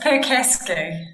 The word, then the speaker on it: Percasky: I hope I got your last name correct. So it's a tough one. It's Percasky.